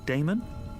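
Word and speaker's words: Adaemon: How do you pronounce that? Damon, if you prefer.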